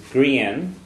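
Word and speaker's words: grian: The other one, the word for sun is green. The sun an green.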